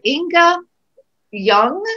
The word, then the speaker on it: Ynge Ljung: Ynge Ljung, is that the right way to say it? Yes.